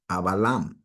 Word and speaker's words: Avalam: The V is pronounced as a B because we didn't have the letter V. We pronounced it as a B, Avalam. That's how you pronounce Abraham, Avalam.